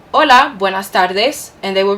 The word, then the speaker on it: hola: whom you're familiar so hola repeat hola remember in spanish that the h is silent so you would never